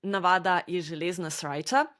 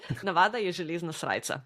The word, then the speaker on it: Navada je železna srajca: So the saying is "Navada je železna srajca." Well, that was an English pronunciation. Let me try that. Navada je železna srajca. Yeah, that was good Slovenian.